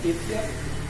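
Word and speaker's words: Ctesias: तो इसमें जो है मौर्य काल के पहले देखिएगा टेथियस, ये साइलेंट हो जाता है, टेथियस, फिर नियाकस और फिर ओनोसिक्रिटस और ओरोस्टोबुलस।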